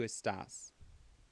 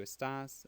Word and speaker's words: estás: Tu estás. Tu estás. So the only thing that's irregular is that the second syllable is accented.